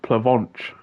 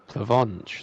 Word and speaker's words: Plavonch: It's actually pronounced Plavonch. Plavonch, like He said like chips, but that's like horrible. Like a pack of Monster Munch.